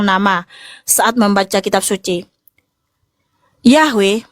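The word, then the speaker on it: Yahweh: Yahwe merupakan konsensus penelitian modern dan akademis untuk pengucapan yang paling mendekati bahasa Ibraninya atau aslinya ya.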